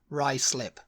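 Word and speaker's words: Ruislip: going to say rlip you're close what is it rice slip rice slip this say London isn't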